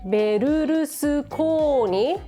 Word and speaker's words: Berlusconi: If it were in Japanese, "Berlusconi" would read Berurusukooni.